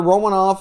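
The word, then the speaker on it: Romanov: you go and you add alexander romanoff or i guess roll mount office is how he prefers to have it pronounced now and joel ebenson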